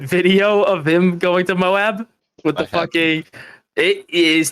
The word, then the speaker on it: Moab: Did anybody see Whistling Diesel's recent video of him going to Moab with the fucking?